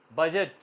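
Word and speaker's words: budget: यहां भी साइलेंट है बजट इसमें भी साइलेंट है गीता बजट बोला जाएगा जी तो आज हमने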